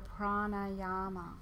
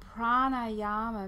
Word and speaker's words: pranayama: have two meanings because it's made up of prana with a long a sound on the end and a Yama or prana with a long e on the end and Yama so there's the word